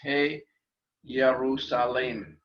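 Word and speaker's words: Ἱερουσαλήμ: sound so not understand understandably we pronounce this hey ya ru saleem and then of course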